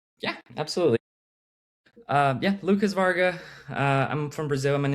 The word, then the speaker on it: Wargha: More like a V. It's Hungarian, so it's a little funny spelling. So, Varga. But Yeah, Varga.